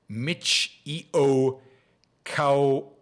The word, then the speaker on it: Michio Kaku: more entertaining okay so uh Mark says it's pronounced Michio Mitch EO cow Michio koku don't know who that is still